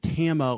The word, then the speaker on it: Tama: But that was Everlong by the Foo Fighters, requested by Tarma, I believe is how he pronounced his name. Yeah, I pronounced it Tama last time, and actually, I used to email